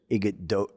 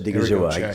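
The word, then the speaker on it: Odighizuwa: even Milton Williams inside, and I'm going to see if I say his name right, Osa Igado, the guy in Dallas. Odigizua. Odigizua. Osa Odigizua. Yes. Osa Odigizua. I got that right.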